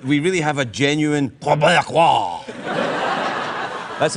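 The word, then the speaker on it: Québécois: There's a few simple tricks that we can perform to make sure that we really have a genuine Quebecois. That's how you pronounce it.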